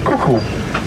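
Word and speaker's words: coucou: So the cuckoo is spelled C-O-U-C-O-U, cuckoo.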